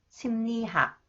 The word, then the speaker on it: 심리학: Okay, when 리을 comes after the final consonants 미음 or 이응, it is pronounced 니은. 음료수, 심리학, 금리.